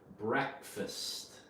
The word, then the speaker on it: breakfast: and fast okay but you don't pronounce it break fast it's pronounced breakfast breakfast okay you're breaking